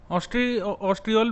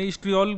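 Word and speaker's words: estriol: ऑस्ट्रियोल basically क्या होता है? इसको ये ओ जो है प्रोनाउंसिएशन नहीं करते, इस्ट्रियोल बोलेंगे इसको, इस्ट्रियोल या E3।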